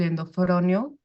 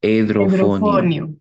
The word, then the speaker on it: edrofonio: medicamento que es el endofronio, ¿El eh, qué? en, endrofonio, No existe ese medicamento. no lo sé pronunciar, pero es Edrofonio.